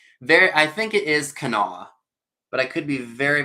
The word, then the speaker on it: Kanawha: it's actually pronounced i heard from amy it's pronounced kanawha not kanawa i thought it was kanawa too but it's actually pronounced kanoa so we're starting it at ten dollars this